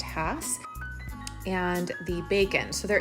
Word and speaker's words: Hass: video the difference between the hats sometimes people pronounce it Haas but it's actually pronounced Hass and the bacon so there is a big